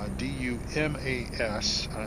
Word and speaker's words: Dumas: I think this is meaning to represent the town of Dumas, D-U-M-A-S, and that's how it's pronounced. It's not pronounced any other imaginable way that you could pronounce that particular spelling, Dumas, Texas.